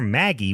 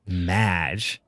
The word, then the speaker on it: Madge: Yeah, he calls her Maggie, which is a more common name. Right. Yeah. And then she's like, it's Madge.